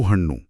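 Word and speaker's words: ಹಣ್ಣು: वो जो हन्नू है ना, उसमें न की जो मिली हुई ध्वनि है और हल्की सी नाक से आवाज।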